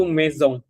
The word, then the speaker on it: maison: Jadi bahasa Perancisnya rumah itu mezong tulisannya tulisannya maisong tapi bacanya mezong gitu.